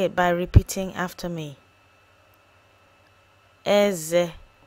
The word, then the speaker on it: Eze: Eze. Eze.